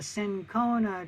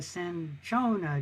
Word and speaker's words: cinchona: the bark of the cinchona tree or the cinchona tree, you can pronounce that either way, which has quinine in the bark.